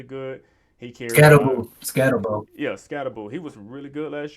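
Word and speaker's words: Skattebo: Yeah, Scatterbo.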